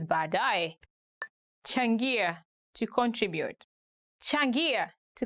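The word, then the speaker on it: baadaye: going to look at 10 hardest ones to pronounce in swahili later ba dai later ba a dai for example you can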